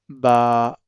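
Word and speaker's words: باء: that's why we should pronounce it in Arabic language. That is alif, ba, ta, tha, ha, kha, as it's written here. And be, te, the, he, khe, it's the words of Urdu language. This pronunciation of Urdu language, that's wrong.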